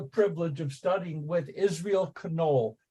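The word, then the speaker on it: Knohl: of studying with Israel canol k n o l i always would have referred to him as n but he pronounces the K he's canol and Israel canol a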